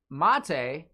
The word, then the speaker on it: Mate: I mean, I'm pretty sure Mate actually corrected us and said it's pronounced mate.